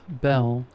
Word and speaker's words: Bel: Then she said her name was Belle. I said, like the Beauty and the Beast? She laughed, then said, almost, but it's spelled B-E-L.